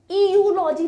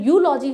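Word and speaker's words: eulogy: यूलॉजी जो है ई से स्टार्ट हो रहा है, ये यूलॉजी नहीं होता, इसका प्रोनाउंसिएशन यूलॉजी होता है।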